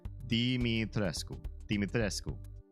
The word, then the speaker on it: Dimitrescu: So, her last name is pronounced exactly like it's spelled. D-I is D, M-I is me, D-me, T-R-E, tre, and then S-C-U, sku, S-C-U, sku, like the first part of school, right? Dimitrescu.